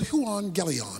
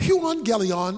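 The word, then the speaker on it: εὐαγγέλιον: the Greek word for gospel is the word huon Galleon that's how it's pronounced huon Galleon is simply translated good news so I got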